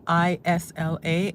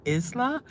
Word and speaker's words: Isla: When I first saw ISLA, I thought I was pronouncing it Isla. But when you think of island, how do you spell island? ISLAND. So take off the ND.